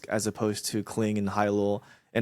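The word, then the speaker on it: Hailuo: It's actually But Hyrule, like a sea oh, like a sea snail. Hai means oh, ocean, and lore is like luosi, it's like one of those snails in the ocean.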